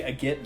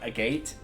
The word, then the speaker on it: Agate: a gitz village because apparently that's how it's pronounced and i think chugga conra did some digging on that it's actually a get village not a gate even though it's supposed to be a gateway